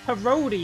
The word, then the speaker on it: Parodi: It's Parodi, it's pronounced out on track.